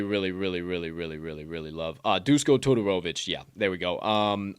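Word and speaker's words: Duško Todorović: a stiff opponent who's he got uh uh totorowicz oh um uh disco totoro uh uh just yeah i gotta look at it to be able to pronounce it right but yeah i just go to tutorovix or whatever but the whole point is maki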